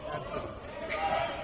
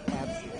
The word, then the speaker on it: ABCDE: How do you pronounce that? Is it... Oh, it's Absidy. That's how it's supposed to be pronounced. Absidy.